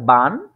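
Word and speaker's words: wann: দিচ্ছি একবার এটা হচ্ছে বান বান অর্থ হচ্ছে হোয়েন কখন ঠিক আছে এটা হচ্ছে কি বান ঠিক আছে আমরা জানি যে ডোয়েসরা ডব্লিউ টাকে ভে বলে যার কারণে এটা বান আমি এখানে উচ্চারণটাও লিখে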